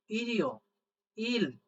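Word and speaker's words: 일요일: এটার উচ্চারণটা করবি ই রি ও, ইরিও, ই রি ও, ইরিও। ইল, ই রি ও, ইরিও, ইল, ইল। লাস্টে দেখেন একটা ই আছে আর রিউল নিচে বসে হলো ল, ইল, ইরিও, ইল, রবিবার।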